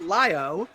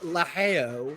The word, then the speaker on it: Lio: We had a discussion about how to properly pronounce it, and according to the actual player, this is Lio. According to Yataz, it's Laheo, which is not true.